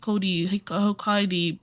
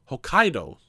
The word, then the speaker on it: Hokkaido: Hik Hokkaid pumpkins. Hokkaido.